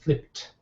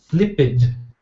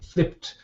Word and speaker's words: flipped: alphabet you can see you've got to say flipped okay and flopped when you're using these words okay if you're pronouncing it as uh flipid or floid uh your pronunciation is not correct